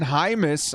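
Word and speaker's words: Jaimes: of our starters uh brendan hymas all right man pronounced jaime's corey linsley at center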